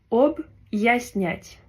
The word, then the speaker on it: объяснять: Alors que si on n'avait pas de signe dur, on aurait dit объяснять. Alors que le signe dur, il permet de faire comme une petite pause et diviser deux syllabes. Donc ça se prononce объяснять.